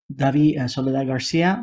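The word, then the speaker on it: Dabi Soledad Garcia: thank you very much thank you sir uh dbby solid Garcia Miss Garcia thank you my name is uh Davi Sol Garcia my name is spelled d a b i s o l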